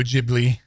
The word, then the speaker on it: Ghibli: It's Studio Ghibli.